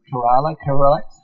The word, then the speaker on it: Kerala: Is that the way you pronounce it? Kerala?